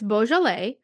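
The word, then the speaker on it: Beaujolais: world from Australia to California now if it's boal it's likely to be labeled as the region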